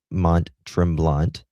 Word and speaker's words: Mont-Tremblant: I'm going to show you that security footage here in a moment, near the hotel of Mont-Tremblant. Am I pronouncing that? I'm not. Yeah, Mont-Tremblant.